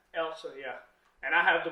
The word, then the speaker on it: Elsa: Elsa, yeah.